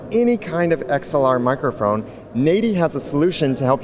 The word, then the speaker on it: Nady: how to say the name of the company say it again so we all know na not Natty no not nauy not n not yeah you got it